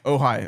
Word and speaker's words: Ojai: Ojai. Ojai, I'm sorry. The J is silent, my bad.